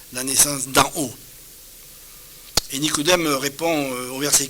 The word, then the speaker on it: Nicodème: quelqu'un l'a fait remarquer Nicodème s'écrit Nico Nico et pas Nigo c'est bien Nicodème et pas ni godem donc faut faire attention